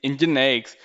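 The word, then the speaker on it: NGINX: If you see formally it is pronounced as the EngineX is an open source software for web serving, reverse proxying, caching, load balancing, media streaming, and many more.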